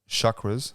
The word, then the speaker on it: chakra: You know how people talk about chakras? Yeah. I want you to say it correctly before you go. Chakra. Yeah, there you go. Chakra. Say it. I've said chakra. Chakra. Yeah. Chakra. With a rolled R.